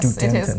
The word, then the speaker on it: Studenten: Yes, Studenten. it is. It's difficult, so. Studenten. Yeah, that's the specific rule that as ST at the beginning of a syllable or word is always st.